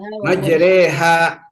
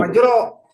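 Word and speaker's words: مجراها: Bismillah ikutin bismillah majreha majreha gitu. Jadi bukan majro padahal harakatnya apa tuh? Fathah. Fathah. Majrah. Tapi dibacanya maj. Iya. Majalah namanya. I gitu ya. Toh itu bacaan namanya imalah.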